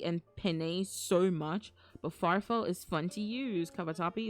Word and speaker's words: farfalle: I used cavatappi and penne so much, but farfalle is fun to use. Cavatappi is like if you took elbow macaroni and made it slightly longer and turned it into a spiral. I know that one. And farfalle, that's how you say it, is bow tie